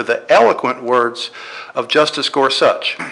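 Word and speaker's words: Gorsuch: eloquent words of Justice gor such by the way that's how you actually pronounce his name it's scors such they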